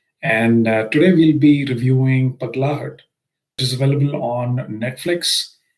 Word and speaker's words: Pagglait: And I was trying to pronounce Pagglait. I wasn't really sure if I was pronouncing it well, but the other day I was at my in-laws' house and they helped me say this is Pagglait.